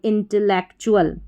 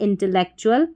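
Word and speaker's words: intellectual: ईसी को एक इंटेलेक्ट बन गया फिर चुल इंटेलेक्चुअल ये इसका उच्चारण हो गया क्या हो गया इंटेलेक्चुअल आई एन एन टी E double L tell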